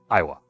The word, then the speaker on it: Iowa: I thought it was No, like I, and then wa, but the emphasis is on the first syllable. So Iowa.